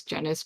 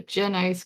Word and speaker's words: Genice: the the trick right so if you know my name you would pronounce it as jenna's cream if you don't know my name you'd be like oh gin ice cream um yeah all right